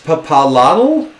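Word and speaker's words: Itzpapalotl: She says, it's papalotl? It's papalotl? Spell it. ITZ. PAPALOTL. Aztec is hard.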